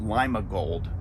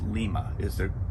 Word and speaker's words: Lima: And I always pronounce it Lima Gold, but it's Lima. That's the Pennsylvania pronunciation of it.